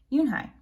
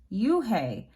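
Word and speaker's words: Unhei: no yin hai corrected it's spelled u-n-h-e-i it's pronounced yoon hai oh it's you hey the boy said like you hey what about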